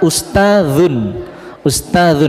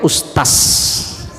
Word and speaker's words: ustadz: Iya, sama dengan kata ustadzun itu kan menggunakan huruf zal. Ustadzun bacanya apa? Ustadz, kan ustadz, cuman kadang sudah kelebihan vitamin S akhirnya apa? Ustaz, kelebihan vitamin S.